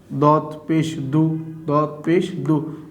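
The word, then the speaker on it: ضُ: Then my dear student, this one is dot, and now I'm giving pesh over the dot, and you have to pronounce this one dot pesh du.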